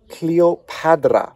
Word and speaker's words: Cleopatra: we have hand and that is actually the D sound not the T sound so we have copad ra cleop padra so we might actually